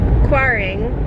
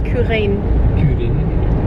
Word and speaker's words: Quiraing: have left the kuaring i think i've been saying it wrong the whole time i think it's kuhren because when i read the gaelic it looks like kurin i think that's it boring but it's spelled quiring i don't know someone